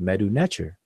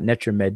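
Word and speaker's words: Medu Neter: know that it's called meadow nature and the fact that you know to say it properly as meadow nature and not nature met dude that means that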